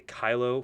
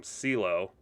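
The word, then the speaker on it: Cylo: believe his name was it's spelled c-y-l-o so i don't want to say kylo because you know obviously kylo ren but i'm going to call him ceelo and he did eventually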